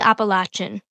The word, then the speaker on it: Appalachian: I've heard other people pronounce it different, but we're going to be saying Appalachian.